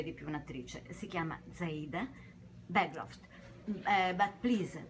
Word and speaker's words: Zaida Bergroth: Si chiama Zaida Bancroft. But please pronounce it in Finn, because I don't know, it's totally different. No, it sounded very good, but in Finland we would say Zaida Bancroft.